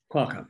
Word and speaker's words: Qualcomm: Nigel power acquired by I'm probably pronouncing that coin Qualcomm Qualcomm that's right Stan holds an MBA